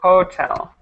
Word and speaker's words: hotel: pronounce it correctly but just make sure that you pronounce that h on Hotel every single time ah okay okay so it should be Hotel perfect and um let